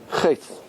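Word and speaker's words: חטא: Chet. Chet. Which letter is silent?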